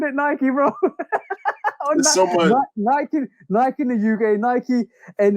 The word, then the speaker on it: Nike: In the UK, we call it Nike, right? Yeah, like Mike. Nike, exactly. But fun fact of the day again. We always bring the fun fact. It is definitely Nike after the Greek god.